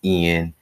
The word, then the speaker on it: Ian: hurricane um Ian I I said Iron I apologize last time I said I in it's Ian sometimes it's you know Iron is written not written but said differently so it's pronounced hurricane eye